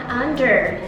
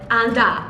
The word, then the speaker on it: under: people call it down under. Down under. Under. Under. Yeah, so when you have an ER at the end of the word, It becomes an A.